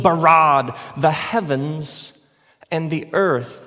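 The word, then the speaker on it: ברא: now the word for create is the word bara let me hear you say bara it's this forceful energetic word of making things out of nothing in the beginning Elohim barad the heavens and the earth now the earth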